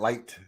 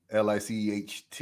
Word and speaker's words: Licht: And because of that, honestly, if I'm, it was Matt Light, their GM. I think so. Licht. I know that's how you pronounce it.